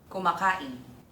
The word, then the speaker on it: kumákáin: The third example: Be eating (kumákáin) The stress is on the ká.